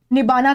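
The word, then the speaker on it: nibbāna: You will attain nirvana या जिसे पाली भाषा में निबाना कहा जाता है। क्योंकि यहां पे र साइलेंट होता है।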